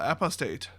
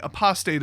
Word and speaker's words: apostate: me timbers uh viconia draw apostate or pardon me apostate i believe is the pronunciation uh two three black